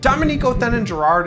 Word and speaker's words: Dominique Othenin-Girard: Dominique Othenin-Girard is the correct pronunciation, and despite the fact that my last name is, I'm not actually from France.